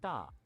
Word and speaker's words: 大: It doesn't sound, it sounds like an unaspirated T. Da. Da, not like da.